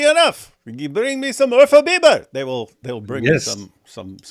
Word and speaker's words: Urfa Biber: There's no such thing as Ufra Biber. You mean Urfa Biber? Urfa? Biber? What's that mean? That is a don't ask me things, man. What? It's a spice. Oh. A spicy pepper spice. Nice. Biber is pepper. Urfa Biber. That's how you say it.